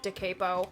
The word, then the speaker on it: Da Capo: Original copy of Da Capo. Yes, I pronounce it Da Capo. Johnny Eccles himself pronounces it Da Capo. Who am I to tell Johnny Eccles he's wrong?